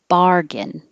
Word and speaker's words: bargain: And the same ah vowel is stressed in bargain.